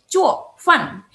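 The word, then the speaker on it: 做饭: Nih, kalian bisa lihat di sini ya, nadanya 4 semua nih turun. 4 turun, 4 turun. Yang turun ada 4, jadi bacanya cuo, fan gitu. Kayak agak marah ya, cuo, fan.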